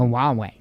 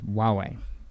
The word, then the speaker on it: Huawei: huawei because you know it looks like a huawei but it's it's huawei no yeah uh let's